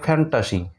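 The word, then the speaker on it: fantasy: একইরকম করে ফ্যান্টাসি, এটার উচ্চারণ হবে ফ্যান্টাসি, ঠিক আছে।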